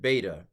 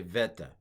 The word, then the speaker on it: beta: So I learned beta, beta test stuff. This is a beta test of pronunciation, but it was likely v at the time, more of a v sound at the time of the New Testament, vita. I'm sorry, veta. Let's say veta.